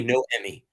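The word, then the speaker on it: Noemi: So just say no Emmy.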